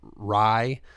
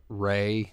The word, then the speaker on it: Rai: And in fairness, Bloodshot was a spin-off comic of Rye, which they mispronounce Ray, you know, just because that's a thing that they do, you know.